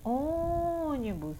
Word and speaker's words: ônibus: Ônibus. Onde é que está a sílaba tônica? Aqui no O. É onde eu me demoro mais.